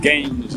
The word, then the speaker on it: Gəncə: I arrived in Ganja You know that "Ganja" means something else in India, in Africa It's pronounced "Gəncə" here Hitchhiking works well so